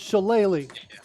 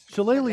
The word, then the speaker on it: shillelagh: as well okay cool so it's shillelagh shillelagh is similarly challenging in